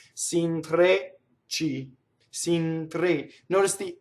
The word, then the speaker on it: s'intrecci: Now notice there's a double ch, and that is a hard consonant. Again, it's done the same way, same manner as double G and double T. We go up to it. We don't say it. We only do one, and then we do it. S'intre, right? S'intrecci. Trecci. Okay? It's not s'intrecci.